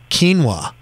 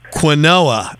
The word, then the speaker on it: quinoa: You know, this is how you say quinoa. It's not quinoa. Quinoa, yeah, exactly.